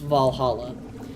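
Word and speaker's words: VA-11 HALL-A: But if you're familiar with the way it's spelled is V A1 Hall A, but it's pronounced Valhalla, which I'm really excited because that's supposed to be getting a sequel.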